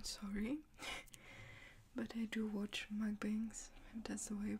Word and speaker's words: mukbangs: as well i'm sorry but i do watch mukbangs that's the way you pronounce it sometimes just to keep me company